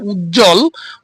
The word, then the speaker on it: উজ্জ্বল: না যেমন এইখানে উজ্জ্বল উদাহরণটা দেওয়া আছে বর্গীয় ঝটা যুক্তবর্ণ এখানে যুক্ত বর্ণের সাথে আমাদের বফলা রয়েছে সুতরাং এখান থেকে বফটি উঠে যাবে এবং অন উচ্চারিত মানে সাইলেন্স অবস্থায় থাকবে